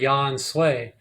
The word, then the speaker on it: Yahensue: English word ensue so ya and Sue are pronounced as one word Yan sway it's because people would